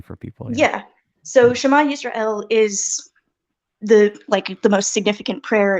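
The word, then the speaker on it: ישראל: It's the name of the prayer, and in this context, it would be pronounced Yisrael with like I've exaggerated it there, but a stop there.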